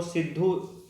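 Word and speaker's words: Sidhu: and Kanhu ठीक है य स्पेलिंग है सिद्धू लेकिन वह सिद्धू है नाम ठीक है तो आपको सिद्धू जैसे भी लिखा मिले स्पेलिंग आपको सिद्धू समझ जाना है सिद्धू एंड कानू ये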